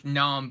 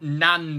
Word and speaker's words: naan: How do you pronounce naan bread? Naan bread, right? Naan bread, right? Not nan bread, because some people say like nan bread or something, don't we?